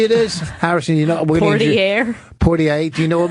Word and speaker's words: Poitier: Okay, Sidney Poitier. Okay. Poitier, or whatever the fuck his name. How do you say his last name? Sidney Poitier.